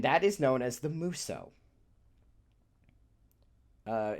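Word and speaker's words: musou: definitely know and that is known as the muso uh it's called out because it's spelled m u s o u in English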